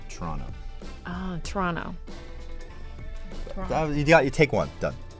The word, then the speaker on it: Toronto: Toronto Toronto there's no you don't pronounce the T at the end DW was saying if you really really want to convince people you really know what's up like Toronto Toronto you take one